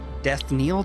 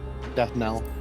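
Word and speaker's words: death knell: Death Neil. Death Kell. Death Nell. Death Nell. All right. At least that's how I've always heard it pronounced.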